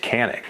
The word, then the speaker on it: Canik: the comments and tell me that it's actually pronounced yannick now you're wrong not me but with that out of the way we can talk about the canik mete now the mete was released in two